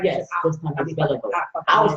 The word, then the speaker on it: Belliveau: His name is Jordan Belliveau. I pronounced it right. Yes, this time it's Belliveau. I was saying Belliveau and trying to read the.